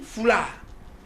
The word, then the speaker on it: foulard: Il dit foulard. Il n'explique pas aux élèves pourquoi il ne prononce pas le D.